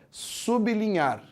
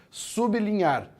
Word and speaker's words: sublinhar: O jeito certo de pronunciar é sublinhar. Você para no B e depois continua. Sublinhar.